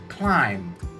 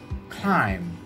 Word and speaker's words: climb: therefore for today's content i'm going to give you silent b in english words let's take a look at the examples and see how i put the silent b english words in a sentence you can repeat after me okay let's start the first word climb climb they set out to